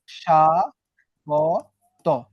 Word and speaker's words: স্বাগত: স্বাগত উচ্চারণের সময় তুমি কি ব কে পেয়েছিলা? না, ব কে পাও নাই। উচ্চারণটা জাস্ট স ছিল। স মানে তালব্য স, সা, গ, তয়কারে তো। এটা হইতেছে উচ্চারণ। দেখো এখানে কিন্তু কোনো বর উচ্চারণ নাই।